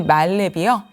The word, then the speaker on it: 만렙: 사실은 이건 발음도 좀 만렙이라고 표현해야 되는지 말렙이라고 해야 되는지 아마 좀 혼동이 되실 거예요. 뭐 온라인도 온라인 온라인 이렇게 발음하듯이요. 사실이 말렙이요.